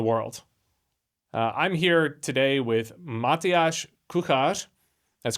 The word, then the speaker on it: Matyáš Kuchař: I'm here today with Matyáš Kuchař. That's correct pronunciation, right?